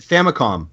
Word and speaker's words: Famicom: don't I don't know pronounced it famicom it's an M because it's short for family computer right right I've always pronounced it famcom as well okay yeah